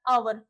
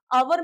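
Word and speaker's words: hour: Next है हमारे पास आवर। अभी हमने थोड़ी देर पहले ही पढ़ा था। आवर में हमारा एच साइलेंट होगा।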